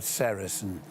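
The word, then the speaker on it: sericin: One of them, a very important one, is called sarin. You spell that s e r i c i n.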